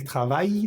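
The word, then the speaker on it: travail: Te recuerdo que esa L de travai no se pronuncia, no decimos no pronunciamos la l hasta la I de trab.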